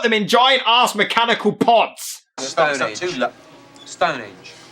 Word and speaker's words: Stonehenge: But their legacy remains, hewn into the living rock of Stonehenge. It's henge! There is an H there! Alright? I promise, not all Brits are incapable of pronouncing their H's.